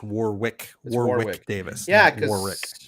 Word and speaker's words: Warwick Davis: had to yeah yeah so well i'm just pronouncing it's warwick davis oh yeah he just i just thought i had it wrong all these years oh happy birthday warwick davis yeah so like i i like uh like